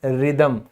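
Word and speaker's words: rhythm: फिर होता है लय में होना, दैट्स रिदम, तो ये जो हैच है यहां पे भी क्या है, साइलेंट है।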